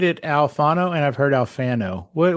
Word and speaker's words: Alfano: I say Alfano because I'm a New Yorker more than an Italian, but apparently our people went to Italy and we've been saying our name wrong. It should be like Alfano, right? Like Alfano would be how an Italian would say it.